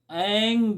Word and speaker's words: ऐं: ऐं मित्रों, जब आप ऐं बीज मंत्र का जप करेंगे तो आपके होठ जो है सटने नहीं चाहिए, खुला रहना चाहिए।